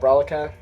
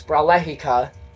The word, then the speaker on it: Bralehika: uh is namedica uh kind of hard to pronounce but it's spelled b-r-a-l-e-h-i-k-a-hika most people just call it brolica uh it's bralachica just so we're clear um and this was